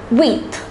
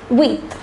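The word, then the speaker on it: huit: eight is pronounced as wheat listen carefully it's pronounced as wheat the number nine is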